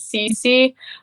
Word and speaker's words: Cesi: that I'm working on is CC um but spelled like um c-e-s-i like cesium um cesium is an atomic